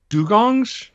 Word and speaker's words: dugong: drones to save uh dugongs the d-u-g-o-n-g-s is that the pronunciation that's right yep dugong yeah so this